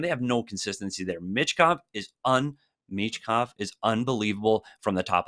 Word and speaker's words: Michkov: We know how to say his name. It's Michkov. Yeah, Michkov, the kid can play, and there is no doubt that he will help.